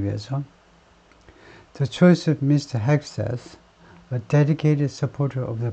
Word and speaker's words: Hegseth: 트럼프 픽스 Pete Hegseth라고 발음하는데, Hegseth, a veteran and Fox News host for Defense Secretary, 국방장관으로 임명했다는 건데요.